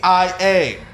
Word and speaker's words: focaccia: How do you pronounce the word that is spelled Focaccia?